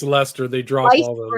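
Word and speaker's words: Leicester: I I mean Leester, how do you pronounce it? I'm I'm terrible. I think it's Lester.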